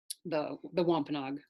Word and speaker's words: Wampanoag: Although that spelling right there of Wampanoag is actually Wôpanâak, so that's the Wampanoag pronunciation. Wampanoag is more like the anglicized pronunciation.